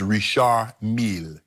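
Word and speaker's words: Richard Mille: and was a $350,000 Richard Mill is Rish Mill yeah yeah yeah whatever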